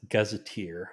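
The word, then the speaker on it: Gazetteer: the New York Gaz gazeteer I think like Gazette but gazeteer whatever New York gazeteer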